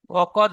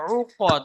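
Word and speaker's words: عُقَد: وقد ওকদ হবে না, উকদ। আইন পেশ উ, আইন গলায় থেকে উচ্চারণ করবেন।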